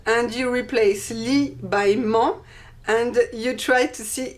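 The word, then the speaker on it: -ment: In French, it's almost the same, but we use ment, M-E-N-T, ment, but we don't pronounce the T.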